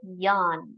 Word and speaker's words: Jan: Ich heiße Jan. We don't say J in German. We say Ja because J is pronounced as Ja. Yacht. Ja. Ich heiße Jan.